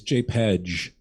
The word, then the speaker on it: JPEG: How do you pronounce JPG? I'm curious. JPEG? Is that anybody else? Is that right? It's JPEG.